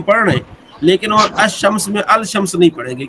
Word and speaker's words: الشمس: الف لام جب ایسے لفظ پر داخل ہو جس کا پہلا حرف شمسی ہو تو الف لام، ال کا لام حرف شمسی میں مدغم ہو جاتا ہے، یعنی تلفظ کے وقت لام کے بجائے حرف شمسی ہی کا تلفظ ہوتا ہے. ایسی صورت میں لام پر جزم نہیں لکھی جاتی بلکہ حرف شمسی پر تشدید لکھی جاتی ہے. جیسے الشمس، الرجل.